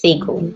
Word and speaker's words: Segal: Is it Segal or Segal? It's Segal.